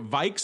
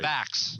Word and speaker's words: VIX: we're talking about here Vikes am I saying that correctly you're you're totally mispronouncing it VX oh VX okay I'm